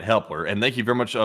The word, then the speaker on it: Hepler: And our next one goes to Helper once again who puts in a five or excuse me, Hepler. I think I've been saying his name wrong. It's Hepler.